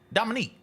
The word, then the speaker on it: Dominique: How do you pronounce her name? Dominique.